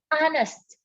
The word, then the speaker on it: honest: An honest. Ini kata ini dimulai dengan huruf konsonan, tapi pengucapannya vokal. An honest, H-nya tidak disebutkan.